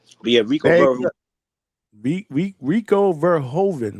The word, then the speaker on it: Verhoeven: But yeah, Rico Rico Verhovven, right? That's how you pronounce his name.